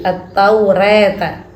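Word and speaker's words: التوراة: ataurah dibaca taklil taklil Ini cara membacanya eh sepertiga ke fathah fathah antara Fath dan imalah antara fathah dan imalah Jadi attaurata attaurata kalau imalah itu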